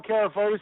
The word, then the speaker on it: Carafotes: So, yes, Kapos is the correct pronunciation.